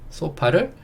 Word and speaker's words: sofa: 소파를 조금 발음만 다르게 하면 되죠.